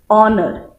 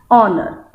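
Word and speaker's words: honour: Here H is not pronounced. Honor. Though H is added over here in the spelling, but we pronounce it as honor.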